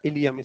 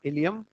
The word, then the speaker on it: ilium: का, ये कहलाता है इलियम। स्पेलिंग याद रखना, ILIUM। ऐसे बेवकूफ बनाने वाले क्वेश्चन आते हैं नीट में, ई लगा दोगे तो इंटेस्टाइन हो जाएगा, ठीक है। तो ILIUM, इलियम।